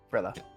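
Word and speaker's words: Frilia: Like frilly, but with an A.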